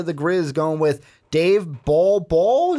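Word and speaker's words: Bol Bol: Grizz going with Dave ball ball I said that right ball ball not bolo Bulbul just want to make sure I'm saying it right ball ball D Center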